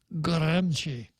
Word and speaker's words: Gramsci: And if you go to Google and ask for the pronunciation, it comes out like this, Gramsci.